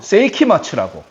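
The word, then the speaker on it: 聖飢魔II: 다 돼가는 밴드가 있는데 세이키마츠라고. 세이키마치. 그러니까 원래는 세이키마인데 뒤에 이제 투가 붙었어. 그 투를 일본 애들 가타카나 발음으로 츠라 하거든요. 그래서 세이키마 츠라 하거든요.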